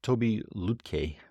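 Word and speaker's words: Tobi Lütke: So this Toby Lutke, I believe it's pronounced, so he's the founder CEO of Shopify, but he did something like this, more with less.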